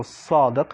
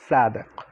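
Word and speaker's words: صادق: So the first letter is basically similar to an S, but more like a heavy S when you pronounce it. So Sadiq, not Sadiq.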